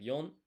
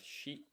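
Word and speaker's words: 四: Four is Well, there are two ways to say it, right? You have yon and you have shi.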